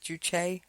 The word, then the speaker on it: juche: I've read the term juche. I believe that's how you pronounce it, juche.